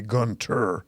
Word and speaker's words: Gunther: Or it's spelled Gunther, but it should be Gunter, Gunter, of Coe Hill, Ontario.